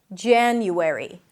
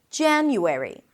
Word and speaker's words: January: A, as in cat, before an N, changes a little bit to an A sound. Ja. January. January.